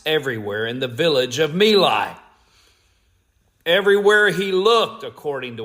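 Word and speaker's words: My Lai: who finally ended and people pronounce it in different ways I will pronounce it as Meli and for my Vietnam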